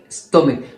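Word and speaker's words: stomach: كلمه مثلا ستومك اخرها ستومك، اخرها حرف سي اتش ولكن بننطقه ك، فعشان كده عشان نحوله الى اسم جمع او نحوله الى جمع فنقول ستومكس، نضيف اس بس.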